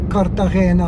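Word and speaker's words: Cartagena: all the way to Kartagena or Kartahena how they say it.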